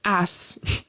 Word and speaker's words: ass: On the other hand, the word ass, which means donkey or butt, um that is going to be the soft s ass. It rhymes with grass.